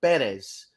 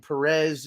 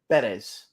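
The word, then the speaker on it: Pérez: uh spelled it out the accent mark is over the first e because the correct pronunciation of of uh that young man's uh last name is actually Perez why everyone insists on saying Perez is is beyond me but it is it is uh Perez Luis Perez Perez I've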